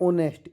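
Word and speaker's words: honest: इसको पढ़ते हैं ऑनेस्ट। इसमें एच साइलेंट होता है तो इसमें लगता है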